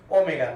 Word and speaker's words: omega: We pronounce this omega, not w.